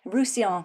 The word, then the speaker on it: Roussillon: the same extent okay rouson I've got to remember how to pronounce that because it has two L's in it but we don't say the L's obviously I just got back